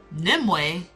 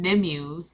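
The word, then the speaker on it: Nimue: was reading the books I was calling her character like n nimu n nimu that's how I was pronouncing her name it's nimway oh now I know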